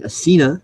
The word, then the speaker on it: Essena: glad for everything well I thought that her name was um ASA apparently it's actually asena now that I've heard her pronounce it in a video okay